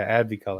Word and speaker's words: AdviColor: podcast is that how you say it yeah Abby color yes yes sir what up guys my name